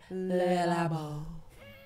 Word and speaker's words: Le Labo: But you gotta say it like that. Le Labo.